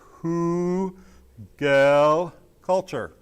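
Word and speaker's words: Hügelkultur: tonight the word is hugo culture and it's pronounced who gale culture and it's basically mound culture it was first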